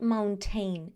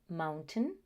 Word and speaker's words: mountain: No, the pronunciation is mountain and certain. Just because we see this ending of ain that is found in pain and train, people assume that the pronunciation is the same, but it's not.